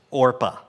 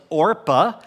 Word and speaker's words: Orpah: Her name is only mentioned twice, and it's in the first chapter, and her name is Orpah.